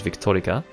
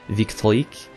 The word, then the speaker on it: Victorique: But it's funny, it shows my character name, which I'm pronouncing as Victorica, but it's actually, I think in French, Victorique.